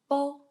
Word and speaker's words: b: at the first one, B is in English we call B, but in initials we call Bo, Bo.